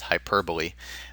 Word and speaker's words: hyperbole: another would be a dove representing piece okay hyperbole not to be confused with hyperb the cor correct pronunciation is hyperbole uh it's basically exaggeration it's an exaggerated statement